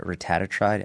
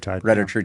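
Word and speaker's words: retatrutide: I always mispronounce the name, but what are your thoughts on uh I call it rattatride. Am I saying that right? Retat true.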